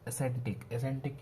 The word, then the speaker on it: ascetic: और एसेंटिक की स्पेलिंग याद कर लेते हैं हम। ASCE एसेटिक है प्रोनाउंसिएशन की।